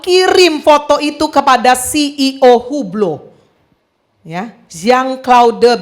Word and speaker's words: Hublot: jam tangan mewah merek hublo ya yang ngerti-ngerti enggak ngerti ya wis ya mereknya Hublot ya itu bacanya hublo Harganya 4 miliar Wah